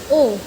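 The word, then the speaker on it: ㅗ: तो इसको हम प्रोनाउंस करेंगे ओ, ठीक है। जैसे कि इंग्लिश में हम कह सकते हैं हॉर्स, ठीक है, हॉर्स बोल के एकदम खत्म।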